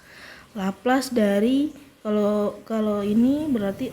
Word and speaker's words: Laplace: er cantik ini ya Nah bacanya laplace laplaz dari kalau kalau ini